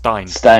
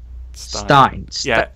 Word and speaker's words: Stein: Stein. You know who? Stein. He told me it's like if you think of Einstein but without the Ein, or a beer Stein, kind of like that.